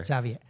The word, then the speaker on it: Xavier: Because I'm gonna pronounce it like Cuban and it's not. It's Anna and Xavier. Okay. Xavier.